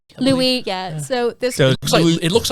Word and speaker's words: Louis: deer it's actually pronounced louis yeah so this is looks like it looks like lewis when you read it but for some reason it's pronounced louie louie's a deer but